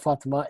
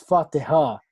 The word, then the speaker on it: Fatiha: Fatima, well, not Fatima, it's Fatiha, not Fatima, the one who said Fat's iPhone, and I got the name wrong.